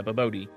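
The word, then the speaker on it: bobotie: B it's or yeah it's I think it's baboy or babot babot is how it's pronounced yeah babot and it's it's a fairly simple recipe for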